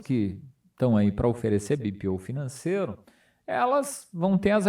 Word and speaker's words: BPO: me acompanha aqui você deve ouvir alguma coisa do tipo bipo né porque Luiz Mas é bpo por que que fala bpo tudo que eu uso porque essas pal essas três palavras elas são pronunciadas em inglês porque vem dessa das